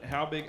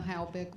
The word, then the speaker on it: Halvick: right thank you Rick Tina how big I apologize if I've mispronounced your name my name is and everybody gets it wrong so please say it correctly and then Stephanie Donovan Tina halvick was perfect thank you I'm here